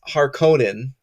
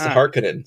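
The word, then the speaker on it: Harkonnen: which is interesting because in the 84 movie it was harkonen that's the way it was pronounced and this movie it's harinen so I have like a very hard time with the way they pronounce it but um basically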